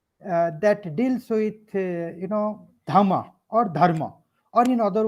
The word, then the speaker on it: dhamma: Sanskrit language for example in a Pali language what you call uh you know dhamma in Sanskrit that is Dharma righteousness I think the